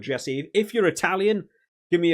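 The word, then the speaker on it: Gesi: right by the way I've heard commentators pronounce it gessie or Jesse depending on who it is I'm going to go with Jesse if you're Italian give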